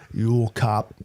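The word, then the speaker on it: jökulhlaup: Uolkop, and it's spelled So like a Yule log, but Yule with the cops.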